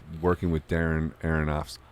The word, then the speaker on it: Aronofsky: in The Wrestler and like working with Darren Aronofsky?